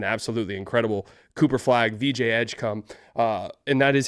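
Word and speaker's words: Edgecombe: Cooper flag, VJ Edgecom.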